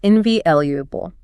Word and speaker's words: invaluable: The stress isn't on the first syllable, it's invaluable.